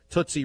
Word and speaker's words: Tootsie: It's a Tootsie. It's because, again, it's about rhyming. Tootsie rhymes with footsie, okay?